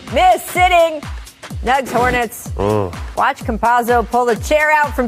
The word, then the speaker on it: Campazzo: Campazzo, yes.